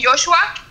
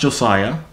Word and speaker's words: Josiah: Is that how you say it, Joshua? It's pronounced Josiah. Oh, Josiah.